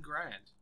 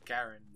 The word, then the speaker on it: Garand: An M1 Garand. Or Garand, or however you want to pronounce it.